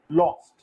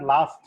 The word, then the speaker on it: lost: For example, TALK, talk, CAUGHT, caught, LOST, lost. It's not last, LOST, lost.